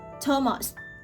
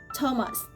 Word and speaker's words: Thomas: Watched watched T is spelled NX in few names. Talent talent. Tames. Tames. Thomas. Thomas.